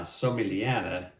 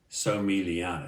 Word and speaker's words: Somigliana: Now, Somigliana, it's kind of like the word lasagna where the G is silent. Somigliana, just imagine the G not even being there. Somigliana.